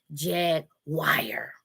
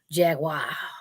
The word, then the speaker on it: Jaguar: like how that sound Jack Wire okay it's not wire it's a Jaguar okay but I'm here